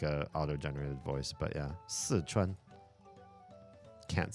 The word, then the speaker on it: Sichuan: The word is si. It means for. Si. Sichuan. Sichuan. It's not anywhere near Szechuan. Ever.